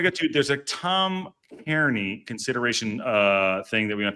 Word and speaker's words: Kearney: There's a Tom Kearney consideration thing that we're going to talk about. Tom Kearney. Kearney? Am I saying it right? I think Kearney.